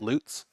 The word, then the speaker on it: Lutz: Lutz?